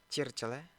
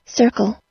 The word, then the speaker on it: circle: Jika kalian menyebutnya seperti ini, circle. Oke, secara bahasa Indonesia itu sudah tepat. Tapi kalau dalam bahasa Inggris itu salah ya. Itu kurang tepat. Yang tepat itu seperti ini. Saya mainkan suaranya. Circle, circle, circle. Circle. Circle. Dia kayak awal mula katanya itu menggunakan S.